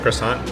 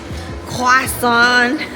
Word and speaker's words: croissant: So I got a chocolate croissant for $4.95.